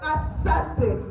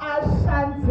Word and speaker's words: Ashanti: The right pronunciation is not Asante, it is called Ashanti. It was called Ashanti by the Europeans because they didn't know the right pronunciation for it.